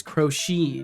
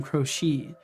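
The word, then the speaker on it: Croce: right there we go I believe I was educated that the pronunciation is is crochet Jim crochet okay also I think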